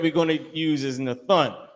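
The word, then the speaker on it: נתן: Nathun is how you pronounce it.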